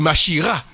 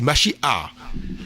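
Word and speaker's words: משיח: Le messie, il faut pas dire mhira, il faut dire. Souvent comme on écrit avec un H on dit machia mais c'est machia par ex pour P on dit P on prononce toujours la voyelle avant avant la consonne.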